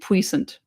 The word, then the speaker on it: puissant: French for once, and I'm going to continue to insist on pronouncing it puissant cuz I think it's funny.